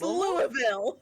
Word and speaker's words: Louisville: in Kentucky thank you it's Louisville well yeah you don't pronounce the S it's just like not